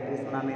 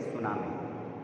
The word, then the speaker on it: tsunami: ठीक है, जो टी है वो साइलेंट रहता है, इसको टी सुनामी नहीं पढ़ेंगे, इसको पढ़ेंगे सुनामी।